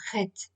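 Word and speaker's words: חית: Au lieu du H aspiré de la lettre He, nous devons gratter un peu le palais pour prononcer le Chet.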